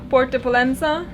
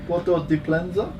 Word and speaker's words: Port de Pollença: Port de Pollença. Porto de Pollença?